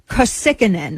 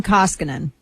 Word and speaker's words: Koskinen: That's just John Kosikinen. I can't pronounce his last name. I'm not going to pretend to. He's the IRS chief. I don't feel like learning how to pronounce his name because I don't like him. It's Koskinen.